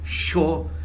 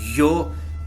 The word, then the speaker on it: yo: Okay, the first one is I, which is yo in Spanish. In some countries they pronounce it sho, in some countries they pronounce it yo, and in most countries they pronounce it yo, just like with a J.